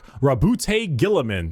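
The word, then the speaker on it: Roboute Guilliman: Primark Rabbout Gillaman.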